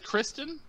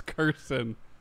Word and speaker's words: Kirsten: So it is Kristen? Yeah. Nope. I was saying Kirsten. Nope. You keep trying. It's Kristen. Nope. What? It's Kirsten. It's Kirsten. Kirsten.